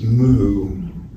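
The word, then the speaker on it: 無: And they always use the Japanese mu, which is an old. It's a Chinese pronunciation from like 1200 or something. The Chinese call it Wu now, but it's a Chinese dojo to say Wu, but means no, so we say no.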